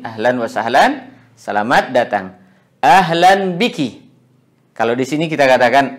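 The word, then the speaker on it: أهلا بكِ: Atau kalau kita ingin wakafkan juga boleh ahlan bik. Ya, untuk perempuan ahlan bik. Jadi tidak ada persoalan kalau dalam pengucapan kita wakafkan huruf terakhirnya. Kalaupun kita juga baca, maka ini juga tidak ada masalah, kedua-duanya boleh.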